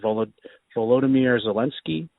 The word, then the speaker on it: Volodymyr Zelensky: want to mispronounce it, but I believe it's pronounced Volodymyr Zelensky.